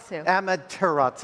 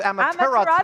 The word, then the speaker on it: Amaterasu: And finally, Amaterasu. Amaterasu. I missed a syllable.